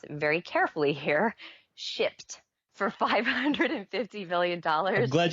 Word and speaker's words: Shipt: an Alabama-based company called, and I have to pronounce it very carefully here, Shipt, for $550 million.